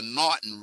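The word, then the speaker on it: M'Naghten: let's talk about the norton rule it's right that's how it's pronounced not it's not m not it's not uh it's the m is silent and it started out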